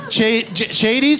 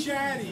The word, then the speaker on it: Chaddy: Chady's home? Is that your name? Chady? Chaddy. Chaddy's home too. Rhymes with daddy.